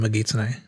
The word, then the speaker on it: Megitsune: The reason that you have the k sound at the beginning of kitsune, but g in Megitsune, because it's a compound, and if you have the second part of the compound gets a voiced consonant at the beginning.